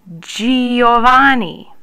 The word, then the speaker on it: Giovanni: Giovanni.